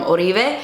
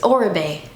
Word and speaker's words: Oribe: thickening treatment spray from uribe every time i say his name like that people are like it's oribe i promise you but